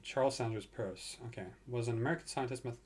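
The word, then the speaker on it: Peirce: I can't spell Pierce Charles Sanders Pierce purse okay that's how you pronounce it Charles Sanders purse okay was an American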